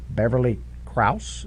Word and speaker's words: Beverly Krause: This person her name was Beverly Krause.